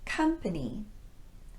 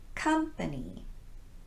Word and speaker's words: company: sound home not home company company here i'm using the unrounded uh sound as in cup company not company all right now that